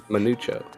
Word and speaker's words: Manucho: Manucho. Is that how you say it? Manucho. That's how you say it. It's pronounced Manucho.